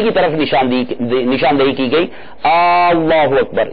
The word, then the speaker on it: اللہ اکبر: طرف نشاندہی کی گئی، اللہ اکبر یا اللہ اکبار کر کے، تو یہ ایسی غلطیاں